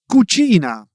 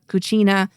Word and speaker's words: cucina: or u it becomes a k sound again. Okay. So, that's the rule there. So, it becomes casa, home, cosa, thing, or cucina, kitchen.